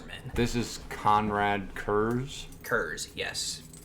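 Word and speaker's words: Curze: This is Conrad Kurz. Kurz, yes. Everyone pronounces it Conrad Curse because Kurz is just.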